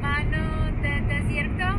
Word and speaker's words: Mano de desierto: Mano de desierto?